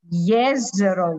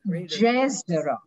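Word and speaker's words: Jezero: pronounce yes zero lake it is not jesus it is yesterday because this is my home country so i know how to pronounce it nobody will do it but that is yes to the lake and here comes uh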